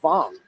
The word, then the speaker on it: Vong: And uh the correct pronunciation of his last name is Vong.